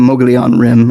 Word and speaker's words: Mogollon Rim: The Colorado plateau ends at what's called the Mogollon Rim, I think is how it's pronounced.